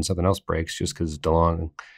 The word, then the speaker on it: DeLonge: else breaks just because DeLong is it too longer to launch I say it wrong every episode I hear it differently every time I always say too long okay go on